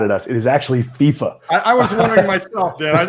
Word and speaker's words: FIFA: don't get mad at us it is actually fifa i was wondering myself dad i wonder if i've been mispronouncing all these years again just so my